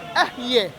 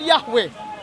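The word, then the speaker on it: אהיה: So this is a desperate attempt by the Trinitarians to mistranslate, to mispronounce the word which is translated I am in Hebrew, which is Ahyeh, not Yahweh.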